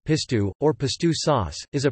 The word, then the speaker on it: pistou: Pistou, Provençal, Pistou, classical, or Pistou, Australian, pronounced Pistou, or Pistou sauce, is a Provençal cold sauce made from cloves of garlic, fresh basil, and olive oil.